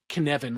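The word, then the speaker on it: Cynefin: in Welsh it's pronounced KVan, like the name Kevin with an N after the K.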